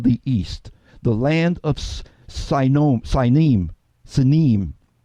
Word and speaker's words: Sinim: East, the land of Sinim, to pronounce it in the Hebrew, Sinim, that Isaiah 49:12 talks about, the land of Sinim.